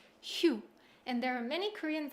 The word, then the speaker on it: 휴: korean so this hanza means shita and it's pronounced hu and there are many korean vocabularies that use